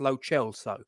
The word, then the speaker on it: Lo Celso: That's how I'm told it's pronounced, Lo Celso.